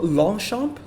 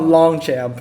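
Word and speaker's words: Longchamp: interesting one the tomaso longshot long shot maybe it's definitely not long champ i know a lot of americans would probably say long champ i've heard a lot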